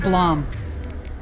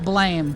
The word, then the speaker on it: Blom: Yes, it's supposed to be pronounced Blom. Not blame, Blom. It's named after the sound effect Killy's gun makes.